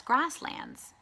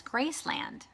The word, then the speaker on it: grassland: talking about grasshoppers and how their habitat was grasslands. And she pronounced grasslands Graceland.